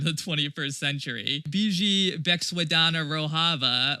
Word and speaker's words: Rojava: 21st century biji beexadana roava uh or rojava is how you say the 14 words from the left.